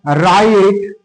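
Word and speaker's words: write: এরকম word doubly তো ডাবলিউ এর উচ্চারণ আমরা পাই না যেমন তোমার রাইট ডবলিউ আর আই টিই রাইট root W আর ওটি রুট রোট রিটেন তারপরে তোমার দেখ কিন্তু আমরা ডবলিউ এর উচ্চারণ পাচ্ছি না এখানে রোড বানানে ডবলিউ উচ্চারণ পাচ্ছি না এখানে রাইট বানানেড উচ্চারণ আমরা পাচ্ছি না।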